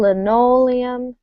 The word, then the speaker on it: linoleum: we have stress aluminum it's going to be the second syllable of each word so the aluminum the old linoleum and the molybdenum all